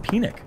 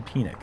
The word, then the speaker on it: Penick: Harvey Pennock course, actually, I've heard that it's pronounced Penick. Harvey Penick. It's actually properly pronounced Harvey Penick, which, and I'm not even kidding, Jonathan's shaking his head. That is actually how it's supposed to be said. Like pina colada. Yeah, like a pina colada.